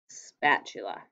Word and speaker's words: spatula: should look like this three syllables spa chula spatula so this is something a little tricky when you go to market so it is three syllables like this and when you look at the spa um it is open right this is an open syllable so normally an open syllable it would say a spatula but sometimes when a